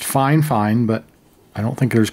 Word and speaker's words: Fifine: got a new product in the mail from five fine now they say their brand name is pronounced fine fine but I don't think there's quite enough letters